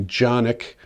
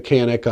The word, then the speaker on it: Canik: It's the Jonic. Most people are calling it the Canik on this channel. I'm going to be calling it the Jonic because it's a Turkish weapon and that's how they pronounce it.